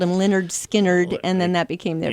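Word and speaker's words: Lynyrd Skynyrd: Well, and then there were so many people who mispronounced the name of that band when they Right. first came out and called it Leonard Skinner. And Yeah. we're like, what? It's Yeah. Leonard Skinnerd.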